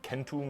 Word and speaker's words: centum: How do we know that Romans originally always pronounced the letter C as a K sound? Like, how do we know they originally said Kaisar and Kentum instead of like Caesar and Centum?